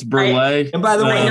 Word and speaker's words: Burleigh: nina please yes so okay so it's nina burley i am uh a um uh midwestern born